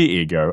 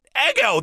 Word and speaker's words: ego: personality the id the ego and the superego oh my god is that how you pronounce it i've been pronouncing it eggo this whole time i